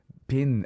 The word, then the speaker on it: Bin: Bin, as in bean.